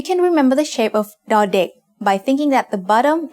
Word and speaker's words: ด: As the initial consonant of a syllable, da makes the sound d in diamond.